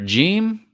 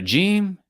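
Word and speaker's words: ج: So you have the letter Jim, sounds like J. You have a Dhamma, sounds like U. You have another Jim, J, Kesra, I, Jim, J, Fatha, A.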